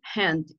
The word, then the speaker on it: hand: Recuerden siempre, en el inglés la H tiene pronunciación de J, siempre lo hemos dicho. Entonces es hand, ¿ok?